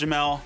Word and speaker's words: Jamal: Yo everybody, I'm Jamel. Spelled Jamal, pronounced Jamel.